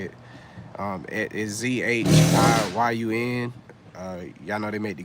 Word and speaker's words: Zhiyun: It is Zhiyun.